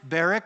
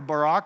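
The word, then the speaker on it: Barak: through nine she summons Barrick or Barack depending on how you say it and she says come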